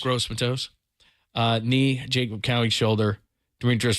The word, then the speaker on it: Gross-Matos: What did Harlan say about how did he pronounce that? Gross-Matos. Gross-Matos.